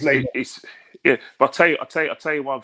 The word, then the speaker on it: Lionel: Some people pronounce it Lionel, don't they? But it is Lionel.